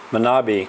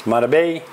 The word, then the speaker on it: Manabí: So, from Manabí province here in Manta, I was told that I was not pronouncing Manabí correctly. It's Manabí. Manabí, the accent's on the I on the end.